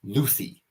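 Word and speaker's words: Lüthi: place ooh for people who want me to pronounce the name Aries luthi uh the God of War followed by L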